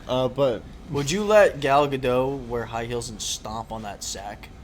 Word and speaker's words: Gadot: Gadot. Godot. Gadot. You don't pronounce the T.